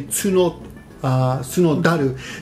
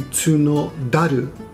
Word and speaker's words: 角樽: And taru means barrel, but when you pronounce certain words together, often in Japanese, when you pronounce words together, the pronunciation on T becomes D. So tsuno plus taru together would be tsunodaru.